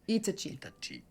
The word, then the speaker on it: Itachi: Itachi is said in Japanese. Itachi.